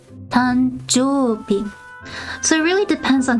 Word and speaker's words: 誕生日: So you actually don't say jo-u-bi, you say jo-bi, tanjo-bi.